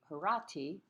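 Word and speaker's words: Horatii: painted as well um the oath of the horatio as it's commonly called um the latin pronunciation would be the herati which is also acceptable it's very much about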